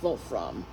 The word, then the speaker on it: Wolfram: In German, it's pronounced Wolfram.